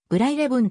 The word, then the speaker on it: ブライレブン: 右記のように様々な表記が見られるがグライレブンと読む絶妙なカーブの